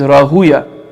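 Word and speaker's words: Rahwayh: And then we have again we said right his the pronunciation pronunciation of his name is Rahuya. Although it's spelled Rahu Rahu, but it's not pronounced that way cuz it's a far name.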